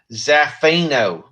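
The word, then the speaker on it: Zaffino: a a pretty cool zofino cover it's black hammer book um you gotta say it you gotta say it like a zafeno that that that's that fee now um but this is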